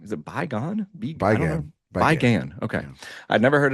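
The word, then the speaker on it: Bi Gan: Resurrection, I never know how to pronounce this director's name. Is it Bygone? Bygone.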